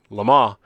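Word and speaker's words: Le Mans: Lamar what do you call it it's actually pronounced so the racetrack in Europe is actually Lamar but I don't hear a lot of people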